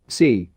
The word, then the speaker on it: si: associated with the heart c pronounced like sir with a slow exhale which is associated with